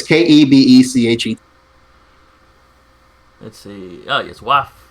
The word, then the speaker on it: Kebechet: Yeah, I'm presuming that's how it's pronounced. It's Kebechet.